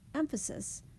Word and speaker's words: emphasis: The syllables in this word, emphasis, have all three stresses. We have a primary stress, which is bold, a secondary stress, which is in italics, and then the schwa sound in the middle, which is the unstressed syllable.